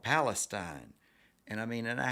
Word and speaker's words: Palestine: and he goes well it's spelled palestine but around here we like to say palestine and i said a